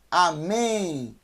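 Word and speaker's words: אמן: e o número nem amém amém então é a mas nem mas é mas é nenhum amém amém não é com m no final é com n amém porque quem todo o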